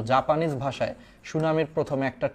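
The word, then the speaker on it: tsunami: দা correctly spelled word সুনামি just খালি মনে রাখবা সুনামি শব্দের বানানে সামনে একটা টি আছে এটা জাপানিজ শব্দ সুনামি শব্দটা হচ্ছে এটা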